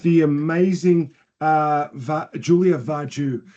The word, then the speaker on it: Vargiu: amazing uh VA Julia vaju how did I pronounce that perfect it's like you're Italian from sgia Julie Julie